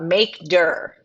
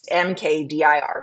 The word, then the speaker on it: mkdir: the slides okay uh make dur that's what it's mkdir but that's called maker um that's how you would pronounce it I can also make notes of that LS PWD make dir if you say mkd-i-r No One's Gonna know what you're saying um if you say